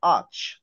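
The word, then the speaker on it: arch: আচ্ছা যাই হোক, তাহলে ব্রিক আর্ক না তো, এটার উচ্চারণ হলো আর্চ, brick আর্চ, brick আর্চ।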